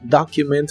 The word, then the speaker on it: document: que significan ese documento la o de document se pronuncia como una a profunda document that document that